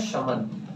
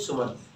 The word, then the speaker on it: summon: Next word guys SUMMON, इसे पढ़ा जाता है शमन, but many of the students can pronounce it सुमन, which is wrong. शमन पढ़ेंगे, शमन।